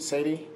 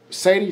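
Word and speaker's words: Sethi: familiar with uh ramit sadie and he wrote this book called i will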